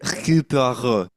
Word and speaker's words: Hercule Poirot: Oh my God, you have to pronounce it with a French accent. Like, I don't even know how to say it. Hercule Poirot.